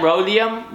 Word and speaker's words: rhodium: how you pronounce that rhodium rhodium sounds like rodeo Oh my gosh did